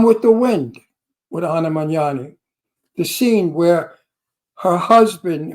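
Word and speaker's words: Magnani: says she likes Anna magani no don't manani Anna manani there's no magani in that I hate when people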